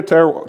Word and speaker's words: terroir: Goût de terroir.